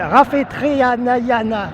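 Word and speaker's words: Rafetraniaina: le nom est un petit peu compliqué à prononcer. Même moi, peut-être, je me trompe un peu dans le Non, c'est Rafetriana.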